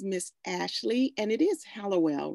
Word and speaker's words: Hallowell: And our special guest today is Miss Ashley, and it is Hallowell, right? I hope I'm pronouncing it right. Yeah. Hallowell.